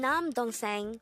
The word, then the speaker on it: 남동생: syllable is dong and third syllable is saying pronounce it with me the term nam dong seng means younger brother again it means younger brother